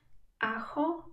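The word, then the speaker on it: ajo: szybciutko może zwrócić twoją uwagę na kilka kwestii aho czyli czosnek ma tam j e j w języku hiszpańskim wymawiamy jak natomiast h jest nieme w języku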